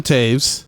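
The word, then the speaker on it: Toews: Jonathan Taves, that's how you say it.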